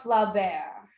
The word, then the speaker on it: Flaubert: Oh, I wouldn't know how to pronounce it. Gobert. Mhm. Gustave Flaubert.